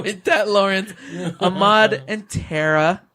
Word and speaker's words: Tara: It's actually pronounced Tara.